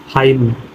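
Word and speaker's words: hymn: एन एक साथ आया, इसमें क्या है आपका एन शब्द साइलेंट है। जैसे देखो आटम, कालम, डैम, हाइम।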